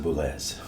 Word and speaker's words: Boulez: And then he continued on to the And he pronounced it Boulez.